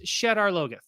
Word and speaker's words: Shadar Logoth: And like, it's pronounced Shadar Logoth. Well, he has a pronunciation guide in the book. There's a pronunciation guide in the book. And then they say Shadar Logoth.